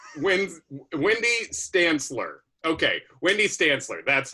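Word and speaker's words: Wendy Stanzler: It is Wendy Stanitz. Wendy Stantzler. Okay, Wendy Stantzler. That's how you pronounce it.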